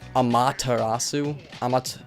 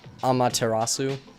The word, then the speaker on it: Amaterasu: And I always pronounced it Amaterasu. Amaterasu. Like I always accented the second syllable, but I guess it's like Amaterasu.